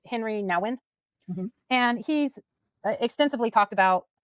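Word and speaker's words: Henri Nouwen: Well, I definitely believe there's this guy, and I think his name is pronounced Henry Nouwen, and he's extensively talked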